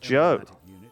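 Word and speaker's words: Zhou: The zo pronounced Joe certainly is true. They should have spelled it that way.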